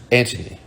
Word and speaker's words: Anthony: was a life guard named anthony pronounced antony who has joined the